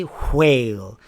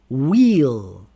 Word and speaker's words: whale: The H is silent after W. Whale. Okay, we do not say whale. We say whale. Wheel.